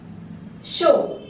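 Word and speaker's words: chaud: pronounced like this Today Show show means hot here also D is silent mo mo till here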